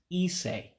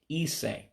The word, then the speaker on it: isii: And the next word is isii, isii. Again, the I is an E sound. So again, that's why you hear me saying isii.